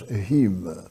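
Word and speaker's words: Home: Ele nascera na Escócia e por isso seu nome tem uma pronúncia muito especial. Daniel Douglas Hume.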